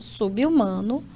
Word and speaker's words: subhumano: Então, nessa pronúncia aqui, repare que o prefixo sub, ele vai ter a última consoante quebrada para formar sílaba aqui com U, tá?